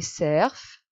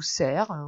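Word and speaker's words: serf: paysans il y a les cerfs ou serre on peut prononcer des deux façons qui appartiennent au seigneur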